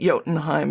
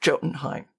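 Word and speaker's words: Jotunheim: Like you'd be surprised how many people don't know that yotenheim is not pronounced jotenheim, right?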